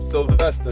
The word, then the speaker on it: Sylvester: with my boy is your last name sylvester is how you pronounce it yup sylvester just like stallone bryson stallone right rocky